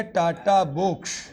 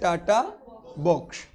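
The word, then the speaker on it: TATA box: nucleotide का होता है और पढ़ो इसको टी एटी ए ए प्रोनाउंस एशन करो इसका टाटा क्या है तो इसका नाम क्या हो गया इसका नाम हो गया टाटा बॉक्स इसका प्रोनाउंस कैसे आ रहा है टाटा तो इसका नाम दे दिया टाटा बॉक्स अब इस बॉक्स को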